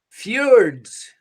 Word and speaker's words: fjords: bodies of water called fjords yeah and pronouncing it correctly is really tough for us americans because we want to pronounce the j and it's actually if you it's like a year fjords okay so question number